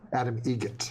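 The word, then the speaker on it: Adam Eget: Adam Egret. Egret. Spelt differently. Like the bird.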